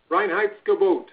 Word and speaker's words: Reinheitsgebot: Those German purity laws are known as the Reinheitsgebot. Did I pronounce that right, Al? Reinheitsgebot.